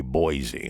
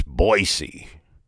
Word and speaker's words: Boise: notice I didn't say Boise I learned when I was in Boise state capital of Idaho I learned that it's Boise the way the locals pronounce it I got a couple